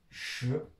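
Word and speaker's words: 十: Il faut savoir que 10 en chinois se dit SHI, SHI, SHI, deuxième ton.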